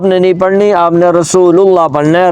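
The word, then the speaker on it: رسول الله: نہیں پڑھنی، آپ نے رسول اللہ پڑھنا ہے، را کے اوپر پیش پڑھنی ہے، تو آپ عربی لہجے میں جائیں گے، ٹھیک ہے.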